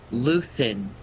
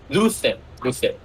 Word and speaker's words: Luthen: You say his name is Luthen. Luthen. Such a Star Wars names. Like Cyril, Tarn. Did any character stick out to you, Hazel? It's just like Luther, but with an N. Luthen.